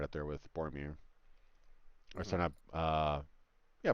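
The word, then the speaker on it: Boromir: bean rolls as well right up there with bormir or set up uh yeah bormir yeah yeah yeah you said it right anyway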